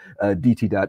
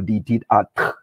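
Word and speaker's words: Ditidaht: But sometime in the 19th century, there was a sound shift, and everybody stopped pronouncing N and they started saying D instead. So it became Ditidat or Ditidat, as the language is called.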